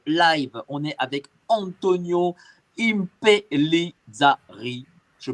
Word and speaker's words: Impellizzari: Ce soir, dans ce live, on est avec Antonio Impellizzari. Je prononce bien? Impellizzari.